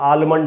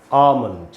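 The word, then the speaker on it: almond: इसमें एक एल है, तो कई बार हमको लगता है कि एल है तो आलमंड होगा या एलमंड होगा, लेकिन ऐसा है नहीं दोस्तों। इसका जो सबसे एक्सेप्टेड प्रोनाउंसिएशन है पूरी दुनिया में वो है आमंड। आम, इसका मीनिंग होता है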